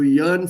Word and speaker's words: yearn: a r n y so don't think this is a south indian pronunciation of e-a-r-n i am yeah earning lot of money but it has nothing to do with that yearning this is a y-e-a-r-n